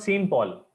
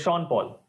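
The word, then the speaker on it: Sean Paul: name of a person it is not same Paul it is sha Paul SE an is always Sheen uh Shan can anyone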